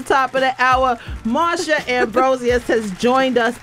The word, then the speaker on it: Ambrosius: of the hour Mara ambrosus has joined us I'm saying her name correctly cuz she told me that's how you say it properly ambrosus sounds awesome it sounds